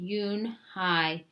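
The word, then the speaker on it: Unhei: "Yes, it's pronounced Yunhai." "And it means grace," Mr. Kim Kim added. "Younai," Joey said slowly, and this time perfectly.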